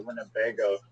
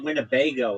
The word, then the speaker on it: Winnebago: Just the I the word winnebago is like funny. It's win. It's four um syllables.